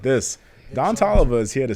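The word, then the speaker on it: Toliver: with big sean and don oliver guys don talva is here to stay let me just say it like this don tolova is here to say and um yeah big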